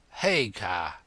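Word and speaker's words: Haigha: name's his name is Hagar he pronounced it so as to rhyme with mayor I love my love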